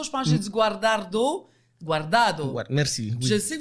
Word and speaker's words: Guardado: Je veux dire bienvenue et merci beaucoup à ses parents, Marlène Richer et Hector Guardado. Guardado, hein? Tantôt, je pense que j'ai dit Guardado.